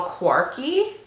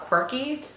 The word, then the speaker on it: Quarky: looks stunning it is called a little quarky not quirky it's spelled like quirky with an a here I'll show you